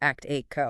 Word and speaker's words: ACTIQO: and pronounced ACTIQO. ACTIQO, right.